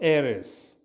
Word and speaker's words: heiress: So H is silent here. H is silent. So heiress.